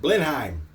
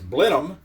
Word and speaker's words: Blenheim: know how to pronounce that, and I was pronouncing it Blenheim because that's, kind of how it's spelled. But according to my research, it's Blenheim after the castle, and which ironically is where Sir Winston Churchill was born.